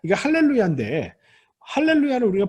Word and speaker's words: 할렐루야: 라고 발언한 사항은 1로 야 라고 발음하지 않습니다 할렐루야 라고 발음 하지요 그게 왜 그러냐 하면 원래 중복